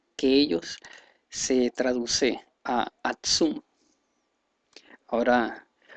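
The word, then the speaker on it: עצום: Entonces, el decir más fuerte, la concordancia es el H6099, el cual se pronunciaría en el hebreo algo por el sentido de Atsum, y pues vemos la conexión con Aksum, Etiopía.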